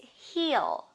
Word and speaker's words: heal: And this is heal. Heal. Heal, that means to become healthy again. Heal. This is the verb, and this is the verb too. Now, EA is pronounced as E.